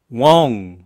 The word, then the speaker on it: won't: Will not에 이거는 웡, 이렇게 엉이라는 느낌이 좀 들어요. 엉이라는 느낌.